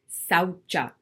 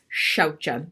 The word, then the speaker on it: Saucha: It's actually, if to say it correctly, it's shaucha. It's shaucha. I always say saucha because that's how I was originally taught. And then I learned later it's shaucha. So it's shaucha.